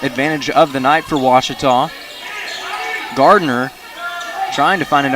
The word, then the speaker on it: Ouachita: Back in Texas, everybody pronounces it Wichita. One more 30, fellas. It's Ouachita.